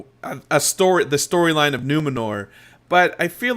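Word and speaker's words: Númenor: uh Dan Edwards in the chat room says numenor became what they ended up over many centuries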